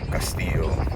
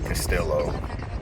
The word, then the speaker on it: Castillo: it stands out or maybe my last name Castillo or Castillo whichever you whichever way you want to pronounce it um I think that's pretty catchy